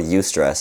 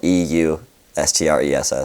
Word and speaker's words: eustress: It's called eustress. It's spelled EUSTRESS.